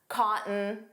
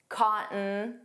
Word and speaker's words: cotton: The T in cotton wasn't pronounced. It sounded like cotton, cotton.